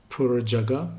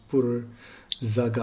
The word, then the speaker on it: Porer Jaga: We Mm-hmm. pronounce Porer Jaga, but it's pronounced Porer Zaga. Zaga. Yeah. Yeah, right.